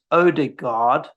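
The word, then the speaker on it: Ødegaard: answered them all there why is it that all of us in england pronounce odegaard as odigard but we pronounce harland as horland i pronounce him harland holland they both follow the same rules this happens a lot right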